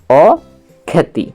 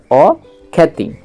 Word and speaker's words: অখ্যাতি: অক্ষ্যা আর তহ সৈতি তাহলে এর উচ্চারণটা আসছে অখ্যাতি বুঝা গেল অখ্যাতি তাহলে আমরা অ এর সাথে খজফল আকার মিশালে অক্ষ্যা আর ত হসতি অখ্যাতি নেক্সট হস দেওয়া আছে